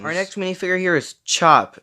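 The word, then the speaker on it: Chope: Our next minifigure here is Chop. It's not spelt the normal way. It's spelt C-H-O-P-E.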